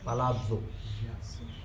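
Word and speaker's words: palazzo: और जानते हम स्पेलिंग जब भी इंग्लिश में डबल जड होता है तो उसका उच्चारण कभी भी ज नहीं होता ज होता प्लाजो लेकिन प्लाजो बोल दो तो भी ठीक है प्लाजो तो बिल्कुल गलत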